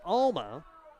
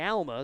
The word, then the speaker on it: Alma: Scott calls it Alma. Being in Nebraska, we say Alma, so we'll see the official pronunciation on it as well as the pitch across for a strike.